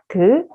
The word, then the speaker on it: 그: You may not realize that your tongue will look like this when you pronounce 그 sound in English. So 그 sound, when you pronounce 그 in Korean, also in English, your tongue looks like this. And then the air goes up and then come out, then you will pronounce 그 like this, okay?